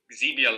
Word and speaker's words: Xebia: for zabia labs uh do I say it like that zabia you say it like that that works for me you call it what you want to call it no I think it's zebia Labs obviously but here in the